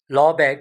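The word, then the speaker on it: Lebesgue: There is another type of integration we call that lobe integration. Uh spelling of this name is slightly different as compared to its pronunciation.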